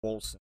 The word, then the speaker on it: Wolcen: And so how do you spell that thing? I'm trying to find video for the it's WOLCEN, Wolson.